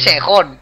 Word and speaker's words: Sejong: Se lee Que Sejón, punto. ya.